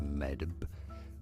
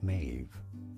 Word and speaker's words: Maeve: not a DB sound not Med but rather a v sound Maeve and now now you